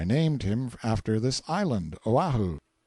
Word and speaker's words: Oahu: him after this island Oahu pronounced oahi the first gate he